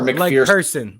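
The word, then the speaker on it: McPhearson: McPherson or McPherson? Like person, McPherson. EA in it.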